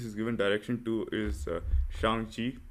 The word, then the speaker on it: Shang-Chi: Or his the previous movies he's given direction to is Shang-Chi. I think I'm pronouncing that right this time. yes, you are. Yes, last time it was Shang Chai.